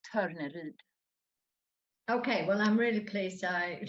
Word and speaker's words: Torneryd: my whole adult life, I have not yet met a person who's not Swedish who can pronounce my name the way we say it in Sweden, but it's Torneryd.